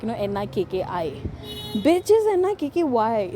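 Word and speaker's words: Nikky: The pronunciation is E. Not the I.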